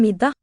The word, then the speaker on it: middag: En middag. Middag. Silent G there.